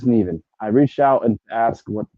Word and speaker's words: Neven: I'm convinced it's Neven, but right now we're going to say Nevin. It is Neven/Nevin Eyewear. Never odd or even. It's Nevin.